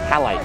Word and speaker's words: Halite: i pronouncing that right halite palette like the like the mineral oh yeah sure sure